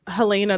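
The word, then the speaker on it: Helaena: No, it's Helena because it's Lena.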